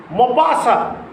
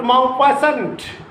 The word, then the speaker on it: Maupassant: Maupassant, M-A-U-P-A-S-S-A-N-T. Maupassant is a French author. Is a French author, Maupassant, not Maupassant. Maupassant, A-N-T is unpronounced.